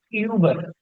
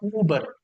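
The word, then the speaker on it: über: पे कंसिडर करूँ ना कि इसके ऊपर umlaut है, तो फिर मैं इसको पढ़ता हूँ यूबर, यूबर, यूबर। लेकिन अगर मैं फॉर एग्जांपल यहाँ से umlaut रिमूव कर देता हूँ, तो फिर इसकी जो प्रोनाउंसिएशन है वो डिफरेंट हो जाएगी। फिर मैं इसको पढ़ूंगा ऊबर, ऊबर।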